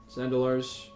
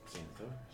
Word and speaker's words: Xanathar: Reliquary, you have access to basically any spell that is 4th level or lower, including ones that are in Zandalar's. Cool. Um, Xanathar?